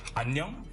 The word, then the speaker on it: 안녕: Fun fact, hello in Korean is pronounced 안녕, which sounds a lot like onion.